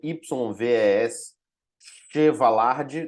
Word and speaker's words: Yves Chevallard: O nome dele se escreve YVES Chevallard, tá? Ou seja, Chevallard, ou seja, isso aqui, como é francês, a gente pronuncia Yves Chevallard, e a recontextualização do Basil Bernstein, tá?